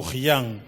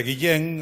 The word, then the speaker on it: Guillén: cando eu nacín era autosén que lle chamaban o Gillán. E por que? Bueno, porque era Guillén e a pronunciación que había por alí.